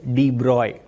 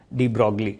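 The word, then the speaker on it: de Broglie: है, ठीक है ना, this is pronounce as डी ब्रॉय, नॉट डी ब्रॉगली। डी ब्रॉगली pronunciation सही नहीं है, the pronunciation is डी ब्रॉय।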